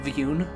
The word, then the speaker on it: Vjun: Vegeta but uh I there is apparently also a way that pronounces it viune like it treats to Jay as a silent is it like a y sound which you know that's